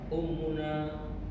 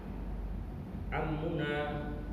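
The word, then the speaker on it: عمّنا: Ummuna. Hmm. Bukan ummuna. Kalau ummu dibaca damah itu hamzah. Kalau pakai ain bacanya a. Am. Am. Am. Amina. Amuna. Amuna. Kalau pakai Hamzah itu artinya ibu. Kalau pakai ain artinya paman.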